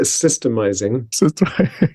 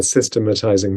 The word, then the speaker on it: systemizing: So just before we get started, I use one less syllable. So I call it systemizing. It's right? my American accent. I mean, I think maybe in the US they like to add that extra, syllable, systematizing. But over here I go for kind of parsimony. So that if you economy of syllables.